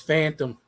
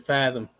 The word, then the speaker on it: Fathom: I always said this name wrong. It's Fathom. I thought it was Phantom. Or is it Fathom?